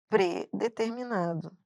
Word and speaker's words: predeterminado: Não é, ele está predeterminado.